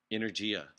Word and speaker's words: energia: You know how to say energy in Italian? No. How do you say that? Energia.